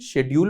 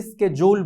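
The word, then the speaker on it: schedule: British English में इसे शेड्यूल बोलते हैं और अमेरिकन इंग्लिश में इसे स्केड्यूल बोलते हैं।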